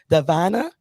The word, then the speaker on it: Davana: I think she told me it's correctly pronounced Davana.